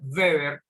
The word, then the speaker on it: Weber: llamado max webber maxwell max weber se pronuncia beber e es uno de